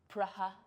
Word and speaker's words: Praha: Sorry, Praha. Continue. Is that really how they pronounce it?